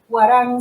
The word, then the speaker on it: Hwarang: Vuelvo y les digo, se llama, es de la editorial Huarang, se escribe Hwarang, es argentina, y ellos se dedican a traducir y a tener libros coreanos, de literatura coreana.